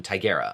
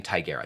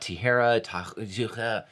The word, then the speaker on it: Tigera: article from 2019 from tigera i'm going to start i decided that i'm saying tigera not tijera tigera that's how i'm going to that's how i'm going to pronounce it from calico calico's also